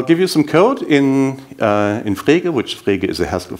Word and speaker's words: Frege: By the way, Frege is a bit difficult to pronounce in English. It's a German word, a German name, Frege. And if you're not a German native speaker, you're allowed to call that freaky, if you want to.